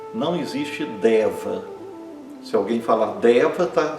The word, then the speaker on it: deva: Outro exemplo, deva. Deva é um ser divino masculino como Chiva, como Vishno, como Ganexa, deva, né? O e fechado, longo e o a curto fechado. Não existe deva.